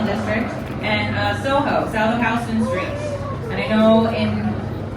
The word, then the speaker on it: Houston: Phi for the financial district, and Soho, south of Houston Street. And I know in Texas you say Houston, but I grew up in a house, not a use.